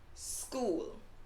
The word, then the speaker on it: school: a school but remember there's no e before the word school so it's actually just school that's it school school